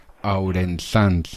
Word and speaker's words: Aurensanz: Tengo hoy la suerte de poder entrevistar a, dime si lo pronuncio bien, Ourensans. Perfecto.